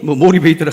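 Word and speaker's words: motivator: 지금은 영어 수업 시간이 아니라 저는 좋은 책을 하나 소개하기 위해서 그런데 모티베이터라는 것은 동기부여이고 모티베이터, 동기를 부여한 사람. 그래서 원래 발음은 모리베이터라 하지만은 어쨌든 이 두 권을 저술한 저자이면서 최근에 주목을 받고 있는 CEO 한 분을 제가 소개할까 합니다.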